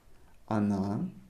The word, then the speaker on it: она: Emphasize on a. That's why we pronounce it она. If you pronounced она, it's fine. People will understand you. However, try to pronounce the way I'm pronouncing it.